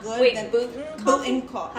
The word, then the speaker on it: Boonton: I was gonna say Boonton Coffee. What's wrong with that? Say it. So good. There's Say a lot that. of places. Like we go. I like to try a lot of places to Boonton see Coffee?